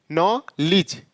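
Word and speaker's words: knowledge: डी जी नॉ लिज अब यहां यहां पर के का यहां पर हम के का प्रोनाउंस नहीं करें यहां नॉलेज बोल रहे हैं तो यह के कहां चला गया इसका हम प्रोनाउंस क्यों नहीं किए तो इसको हम आगे रूल्स में देखेंगे यह कब साइलेंट हो जाता है के यहां पर साइलेंट हो गया है तो यह क्या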